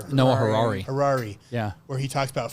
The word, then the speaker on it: Harari: Noah Harashi or Noah Harari. Harari.